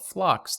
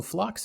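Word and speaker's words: Phlox: of great ones and one in particular called flocks that's my current favorite and is the one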